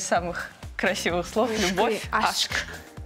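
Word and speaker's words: aşk: А вот у нас еще есть аск. Какой-то... Ашк, ашк. Ашк. Ашк. А, здесь еще чаще, да. Потому что хвостик, да?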